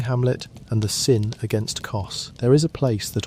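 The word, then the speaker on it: Kos: Her name was CS, which you may say simply as CS, though some pronounce it Csum.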